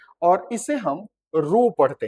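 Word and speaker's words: rho: हैं और इसे हम रो पढ़ते हैं। क्या पढ़ते हैं? आर एच ओ रो जहां पर एच साइलेंट होता है और यह रेजिस्टिविटी को बताता है।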